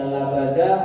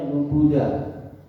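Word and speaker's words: لبدا: Ada yang bacanya labada, ada yang bacanya lubuda.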